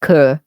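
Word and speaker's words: cœur: It's pronounced "cur."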